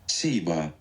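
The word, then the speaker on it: ceiba: The Kaiba tree at its center was Kaiba. Is it pronunciation? Siba.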